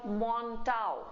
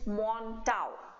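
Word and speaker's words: Mantoux: different it is called montau test and the spelling is m n t o u x but the way we say it is mon test are vaccines only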